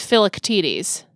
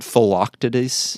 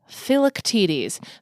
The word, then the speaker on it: Philoctetes: Yes, it is a Greek name It's not phyloctides. No, it is not. Taste. It is not phyloctides. It's phylactides. The ik is very small. Okay. It's not phyloc. Phylactides. Phylactides. Yes. Okay. Emphasis on the third syllable.